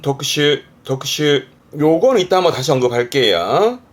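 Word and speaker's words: 特種: 특별한 종류를 말하는 발음은 독슈.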